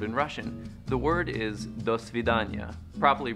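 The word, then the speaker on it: до свидания: The word is do svidanya, properly pronounced do svidanya.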